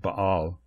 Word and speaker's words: Baal: The Hebrew word Baal, which actually is pronounced Baal, means Lord, Master, or Husband.